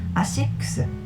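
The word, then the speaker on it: ASICS: when you say A6 because we pronounce it AIX the name asix comes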